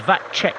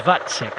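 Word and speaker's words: Vacek: the other day because I thought it was that check but it is vatsec so thank you very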